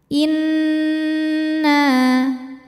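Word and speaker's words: إِنَّا: Inna, nunnya dihukumi dengan gunnah musyaddadah atau gunnah atau wajibul gunnah atau nun musyaddadah. Sebab nun bertasydid. Cara membacanya didengungkan. Tahan bunyi N sampai ada suara masuk hidung, kurang lebih 2 harokat.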